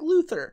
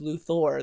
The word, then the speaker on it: Luthor: and it's like oh it sounds like Luther he's Lex Luthor no it's Lou Thor there's an O and anyone that spells